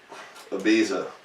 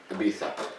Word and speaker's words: Ibiza: Ibiza. Ibiza. That's how they say it in Spain.